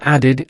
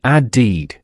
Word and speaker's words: added: Now listen to the base verb add. It ends with a sound. And what is our special rule for verbs ending in or? That's right. We add the extra syllable it. So it becomes an added added. It has two clear syllables.